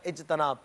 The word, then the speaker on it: اجتناب: اجتناب تو یہ بھی غلط ہے. آپ سمجھ گئے ہوں گے کہ اس میں بھی تا کے نیچے زیر ہی لگانا ہے، اور اجتماع کے وزن پر اجتناب، اجتناب کرنا ہے.